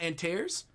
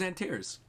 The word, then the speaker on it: Antares: do you say it it's not antairs how do i say it how do i i also agree this is totally sus how do you say his name if i'm saying it wrong it's not antares i'm curious how you pronounce it otherwise i thought it was antares it's antares oh and therese antares oh and therese